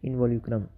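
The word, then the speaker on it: involucrum: इनवोल्क्यूलम, इनवोल्यूक्रम सही है ना, इन दोनों में पूछा हुआ है।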